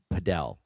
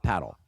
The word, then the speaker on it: padel: Padel. It's not. I don't paddle. even know what that is. It's padel. Oh, paddle ball. No, it's not paddle. It's padel. It's different than paddle in the States. Padel what is it?